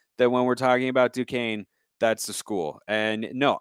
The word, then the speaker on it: Duquesne: you see that school that's spelled d-u-q-u-e-s-n-e that's duquesne it is not ducastini as someone who has